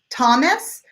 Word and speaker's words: Thomas: okay Mariana is asking how do you pronounce the names Thomas or Oscar both of them are the short o sound that sounds just like an oo tah-tah Thomas this is one of